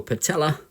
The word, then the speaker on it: patella: We've got a nice little patella, which is our kneecap, rhymes with natella, and up here the biggest bone in the body, which is our femur.